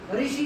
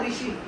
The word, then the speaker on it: ऋषि: क्योंकि south India में इस साउंड को एक्चुअली रू के, जैसे हम इसे री करके प्रोनाउंस करते हैं ना ऋषि, वो इसे रू करके प्रोनाउंस करते हैं ऋषि। या साउथ इंडियन आप कोई बोलेगा तो इसे ऋषि बोलेगा इसे, और हम लोग इसे जनरली ऋषि बोलते हैं।